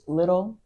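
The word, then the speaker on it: Lidl: Also, like when we went grocery shopping in Athens, the grocery store we shopped at was called Little, Little. I L think that's I how you D pronounce L it.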